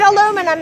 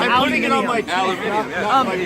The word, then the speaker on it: aluminium: And you shouldn't put aluminum in your brain. Aluminum in your brain gives you Alzheimer's. I'm British and it's pronounced aluminium.